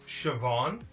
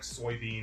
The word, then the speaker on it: Siobhan: It's Siobhan, but people typically call her like Soybean or Siobin, so she just goes by Chevy.